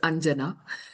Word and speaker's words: Anjana: clarify for Catherine that in India we pronounce the J, unlike in Spanish, if it helps. So it is Anjana.